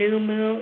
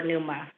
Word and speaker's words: Numu: me and they explained numu is the best representation over pneuma thank you and so